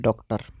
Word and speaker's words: डॉक्टर: डॉक्टर शब्द में आप देखेंगे यहाँ पर ओ की मात्रा नहीं लगी है, लेकिन फिर भी जब हम इसका उच्चारण करते हैं तो हम इसको कहते हैं डॉक्टर।